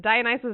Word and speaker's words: Dionysus: Dionysus, that's how you pronounce it. Dionysus is just like, I want you to go get that bottle of wine.